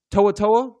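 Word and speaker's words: To'oTo'o: Henry Henry Oh, Toaatoa, that's how you say it.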